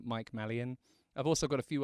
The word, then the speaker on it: Malyan: channel which you can find me again either malan drum or just my name Mike malan I've also got a few other socials that you can find me on in your place of choosing on Instagram it's malan and that's spelled m a l y a